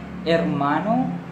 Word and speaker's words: hermano: Spanish okay income robeson-el H is basically pronounced silent we don't say H okay no problem with a like a share hermano instead of st.